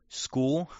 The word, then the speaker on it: Skuhl: We got like school or something, school, right? Which is spelled Skuhl.